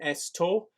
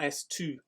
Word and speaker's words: esto: And the pronunciation esto, not estu, please.